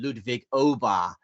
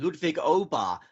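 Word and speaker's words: Ludwig Åberg: Because I saw him do a piece to camera last week where he said, "Hi, I'm Ludwig Obar."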